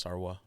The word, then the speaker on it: sarwa: So in Tagalog it's suka, in Ilocano it's sarwa.